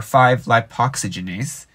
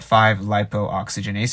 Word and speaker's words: 5-lipoxygenase: called 5-lipo oxygenase or 5-lipoxygenase i call it 5-lipo oxygenase even though it's spelled 5-lap oxygenase and so 5-lipo oxygenase